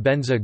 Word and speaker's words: Vajra: Like most Sanskritic mantras in Tibet, the Tibetan pronunciation demonstrates dialectic variation and is generally Om Ahung Benza Guru Pema Siddhi Hung.